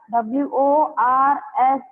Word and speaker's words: worst: Worst, W-O-R-S-T, worst. In that R sound is not heard much.